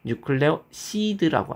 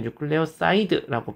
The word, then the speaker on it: 뉴클레오시드: 뉴클레오시드라고 합니다. 티드냐 시드냐 요게 좀 달라요. 뭐 한국에서는 유클레오시드를 뉴클레오사이드라고 발음하기도 하지만 우리는 뉴클레오시드라고 발음을 해 보도록 하겠습니다.